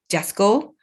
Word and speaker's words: JASCO: we use this detector this is by uh jasco just go not the beyond the shopping mall